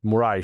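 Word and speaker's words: Moraes: Ben a judge named Alexander deor forgive me Portuguese speakers if I'm if I'm getting that wrong Moray I think is how you say it demanded that Twitter shut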